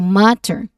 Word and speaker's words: matter: So unlike in British English, which has a clear T sound, matter. Okay, matter. So the stress is on the first syllable, ma. So matter.